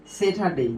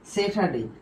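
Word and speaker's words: Saturday: এখন আসো তাহলে দেখো এই যে স্যাটারডে, কি স্যাটারডে, দেখো এই আর উচ্চারণ কিন্তু হয় নাই স্যাটারডে।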